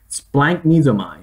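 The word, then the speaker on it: σπλαγχνίζομαι: Splanknesomai.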